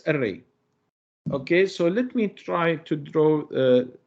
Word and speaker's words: trie: try uh is is this word comes from retrieval okay from retrieval and we pronounce it as try Okay so let's see